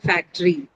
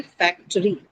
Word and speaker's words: factory: Some of the people would want to omit, particularly in the Indian context, because the articulation sounds like factory, right? But it should be factory. Factory. 3 syllable word.